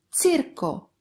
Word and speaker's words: τσίρκο: And τσου sounds like CH in the word cherry. For example, τσίρκο, τσίρκο.